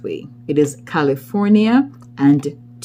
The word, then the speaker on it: California: We do not pronounce the R sound in many of our words, and California is frequently pronounced California. It's California.